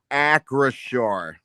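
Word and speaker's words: Acrisure: Yeah, I just I just checked the pronunci pronunciation of the stadium in Pittsburgh. Acure.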